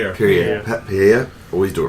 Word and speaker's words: Pierre: How do you pronounce his name? Pierre.